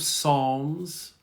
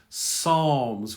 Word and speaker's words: Psalms: We have the book of Psalms. Psalms, we don't pronounce the P, Psalms.